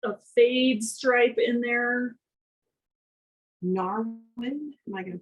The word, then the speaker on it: Narwin: Narwin, am I going to pronounce that correctly?